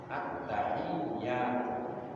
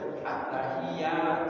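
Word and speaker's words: التحية: At-tahiyyah harus at-tahiyyah. Di iyanya itu ada tasdid, tidak boleh kita baca at-tahiyyah, tidak ada tasdidnya, itu sudah membuang tasdid.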